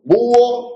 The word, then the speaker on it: búho: Pues, búho tiene 2 sílabas. ¿Por qué? Porque se encuentran 2 vocales en la fonética, en la escritura no se encuentran, pero como la H es muda, no es sorda, la